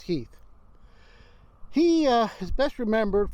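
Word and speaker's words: Heth: of confederate general henry heath it looks like heath but is pronounced heath he uh is best remembered for basically starting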